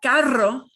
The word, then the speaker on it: carro: But carro, carro gets a strong trill.